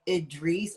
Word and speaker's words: Idris: Because everyone's like Idris or Idris. I'm like, it's Idris. Like, The I's are pronounced like E's.